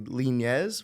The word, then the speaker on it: Linez: I got my special guest with me Natalie lineez right that's how you pronounce it okay there you go a little